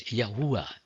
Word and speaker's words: Yahuwah: Therefore, I use the four Hebrew letters Yod, He, Vav, He, in English YHVH, and I pronounce it as Yahuwah instead of Lord, which is a title and not a name.